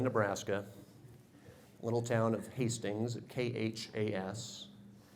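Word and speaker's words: KHAS: little town of Hastings KH AAS if you pronounce that it's K Haas we had a tornado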